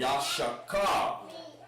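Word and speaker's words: יששכר: And his pronunciation is Yash. Yash. Like that. Shah. Mommy, why? And then it's K-A-R, car. Yasha, like it. Yashakar. Yash Shakar.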